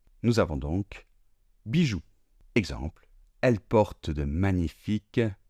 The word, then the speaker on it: bijoux: Et comme je vous l'ai déjà dit, la lettre O et la lettre U ensemble forment le son OU. Nous avons donc bijoux.